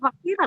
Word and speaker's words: Makfira: Maaf ya, saya nggak jadi namanya jadi Makfiro, namanya Makfira loh.